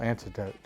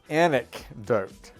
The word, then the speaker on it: anecdote: that but they just don't impart a personal antidote a personal antidote antidote i need the antidote man okay i can do it antidote antidote did i say it wrong again i said anecdote okay i'm feeling good about this one anecdote